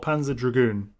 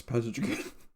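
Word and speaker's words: Panzer Dragoon: yeah Dragon the second the second o is Silent not pan not not Panza draon no yes Panza draon so Panza remake is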